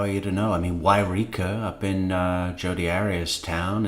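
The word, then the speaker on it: Yreka: Wairika up in Jody Arias' town is, how do you spell it? Wairika. Y-R-E-K-A. And from that they get Wairika.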